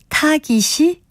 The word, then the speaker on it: 타깃: 표현도 가끔들을 수 있는데요 여기서 나온 타겟도 첫째음질에 있는 거센 소리의 영향으로 둘째 음절도 거세게 발음하는 거 같습니다 그러나이 경우에는 타케시 아니라 타깃이 올바른 표기이자 발음입니다 그리고 국가 이름 중에 포르투갈